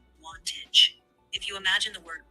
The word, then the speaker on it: Wantage: W A N T A G E. Am I pronouncing that right, Lexi? You're very close. Wantage is typically pronounced with a short O sound like wantage.